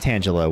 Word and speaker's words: Tangela: And yes, it is pronounced Tangela with the leaf energy type reverse holo pattern.